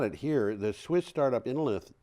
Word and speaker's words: Innolith: The Swiss startup Innolith, which is probably actually pronounced Innolit, but I don't know, says it may be Innolit. I don't know how lithium is pronounced in German, and it might not even be German.